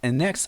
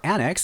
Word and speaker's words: annex: anex it to yourself anex or Annex you could pronounce it either way is to add something